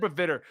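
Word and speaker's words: Pavitr: said Paviter, but they pronounce it different in the movie.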